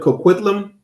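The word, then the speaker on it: Coquitlam: The Pikton brothers were eventually sued by uh Port uh how you pronounce this again, Salakia? Port Kquitlam.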